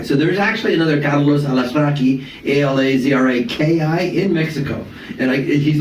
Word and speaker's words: Alazraqui: And the cat I have right now with me is, first of all, his name is Carlos Alazraqui. Carlos Alazraqui. That's good to hear it pronounced correctly.